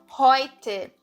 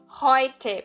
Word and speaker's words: heute: Eu não falo heute, eu falo heute. Heute. Por isso que o som daqui é heute, é Europa, é por isso que esse som muda.